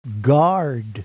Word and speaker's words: guard: letters of the word guard in the proper order remember the u is silent ah